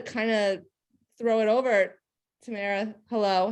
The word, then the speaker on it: Tamara: So hey, I'm Tamara, rhymes with camera.